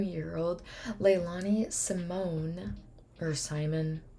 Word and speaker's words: Simon: old Leilani Simone or Simon I'm pretty sure it's Simon but I heard someone say pronounce like Simone so but it's Simon from Savannah Georgia called